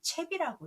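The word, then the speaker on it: 差備: 채비가 한글이 아니라 한자가 돼서 그때 이자를 쓰고 갖출비를 쓰면 채비라고 읽습니다.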